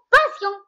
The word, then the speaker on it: passion: prononce passion parce qu'il y a deux S. Il y a deux Mais S. les Hidna et Souhna Goulou, passion.